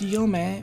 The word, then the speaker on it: Yome: uh roden sanezumi and valley but uh it's pronounced yome because of a particular thing in folklore um